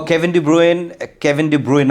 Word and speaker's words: Kevin De Bruyne: Oh, Kevin De Bruyne, actually, Belgian, that's how it's pronounced.